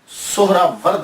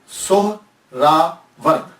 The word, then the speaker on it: سہرورد: یا تو نسبتی ہے، تو لفظ جو ہے وہ سہراورد ہے، سہراورد، سین کے اوپر پیش، پہلی ہا، یہ ہا ساکن، را کے اوپر بھی زبر، وا کے اوپر زبر، را ساکن، پھر آگے دال جو ہے وہ ساکن، تو سہراورد۔ یہ سہراورد ہے کیا؟